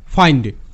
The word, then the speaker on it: find: দেখো আমরা জানি আই এর শর্ট সাউন্ড হ্রস্ব ই, এটা ফিন্ড হওয়ার কথা, কিন্তু এখানে আই হিসেবে উচ্চারিত হচ্ছে, অর্থাৎ এর সাউন্ড ফাইন্ড।